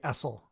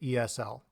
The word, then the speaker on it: ESL: however with ESL and EFL people don't say esel they say ESL so we're pronouncing each letter in the abbreviation or EF